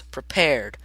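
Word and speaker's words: Prepar3D: people are working on it there you go pronounce prepared it's based on Microsoft ESP all that and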